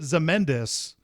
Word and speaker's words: Ozymandias: of yeah the ozymandias they pronounce it zemendus even though i'm sure that's not how they wanted it pronounced when they wrote it it's a that's a